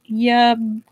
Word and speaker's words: Yabgu: Pronunciation, there we go. Yabgu. Oh, I said it right!